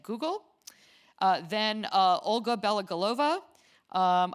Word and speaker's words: Belogolova: Olga Bell galova um I actually never announced I asked you how to pronounce your last name but I since yes as you know I speak Russian I just pronounced it the Russian way um was director for